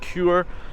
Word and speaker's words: Chur: quite a long time I've just found out is actually pronounced cure or cure or something